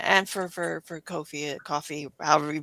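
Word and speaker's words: Ko-fi: something like that and for for for Kofi coffee however you pronounce that as well. So yeah, Kofi is how I pronounce it.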